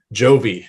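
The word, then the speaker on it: Jovie: Jovi, as in John Bon Jovi. Nice. But spelled with an E because my wife said that would make it more girly.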